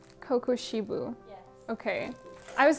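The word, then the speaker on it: Kokushibo: This is, okay, Kokoshibo? Kokoshibo? How do I pronounce his name? Kokoshibu.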